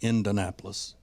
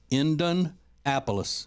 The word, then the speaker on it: Indianapolis: area so I do know that it is pronounced indanapolis indanapolis is the way they pronounce it so anyway